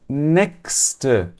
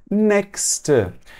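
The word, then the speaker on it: nächst: a palavra próximo né em alemão a gente diz next tudo bem aqui eu tenho ch seguido de um s ou seja a regra é muito clara eu vou pronunciar como um então next eu diria que assim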